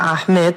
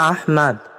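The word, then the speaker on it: أحمد: সেটা জানতে চাচ্ছি আহমেদ হচ্ছে বাঙালি বিকৃত উচ্চারণ আহমেদ আহমদকে আহমেদ বলা এটা বাঙালি এক্সেন্ট যেটা ভুল প্রচলিত ভুল আসলে আহমদ হচ্ছে আহমদ মানে অধিক প্রশংসাকারী আফজানে আহমাদু কথা বোঝা গেছে অধিক প্রশংসাকারী সুতরাং আহমেদ বলাটা ভুল আসসালামু আলাইকুম ওয়ারাহমাতুল্লাহি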